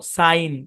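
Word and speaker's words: sign: একটু অন্যভাবে এখন দেখাচ্ছি শব্দের শেষে জি এন থাকলে জি সাইলেন্ট আর এই আই টা দিবে লং সাউন্ড তাহলে উচ্চারণ কি হবে সিন নো সাইন কি উচ্চারণ সাইন সাইন মানে কি সাইন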